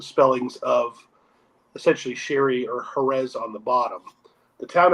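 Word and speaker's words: Jerez: was a Phoenician town jetes was the name of the town which is where was when it became a Spanish pronunciation became Herz and then ultimately as I said where it was corrupted into the word Sherry itself but there's been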